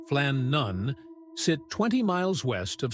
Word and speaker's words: Flannan: The Flannon Isles, pronounced Flan Nun, sit 20 mi west of Scotland's outer Hebdes.